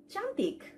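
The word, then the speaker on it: cantik: সো one word ক্যান বি চান্তিক, means beautiful, okay? চান্তিক। সো চান্তিক যেহেতু সি থেকে শুরু হয়েছে, তাহলে আমি উচ্চারণটি করলাম চান্তিক।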